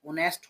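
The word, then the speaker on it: honesty: ऑनेस्टी हिज उसकी ऑनेस्टी ऑनेस्ट होता ईमानदार और यहां ऑनेस्टी है इसमें भी एच साइलेंट होता ऑनेस्टी ऑनेस्टी ईमानदारी ईमानदारी एंड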